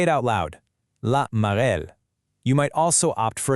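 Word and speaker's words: la marelle: Listen to that pronunciation again. Cash cash. Then there's laarel or hopscotch. Say it out loud. La marel.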